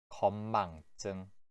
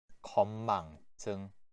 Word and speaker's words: 건망증: 7번, 건망증, 건망증. 여기에 있는 증, 제일 마지막 글자의 즈가 증으로 발음이 돼요. 건망증이라고 해요.